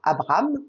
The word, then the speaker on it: Abram: Térak engendra Abram. Vous vous souvenez certainement qu'avant de s'appeler Abraham, il s'appelait Abram, en 2 syllabes.